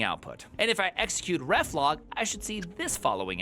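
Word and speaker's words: reflog: Get ref log command pronounced ref log, not reef log, is kind of like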